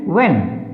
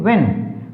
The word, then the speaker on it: when: when, WHEN when, वहन नहीं when, WHEN when, क्योंकि यहाँ पर H क्या है? साइलेंट है।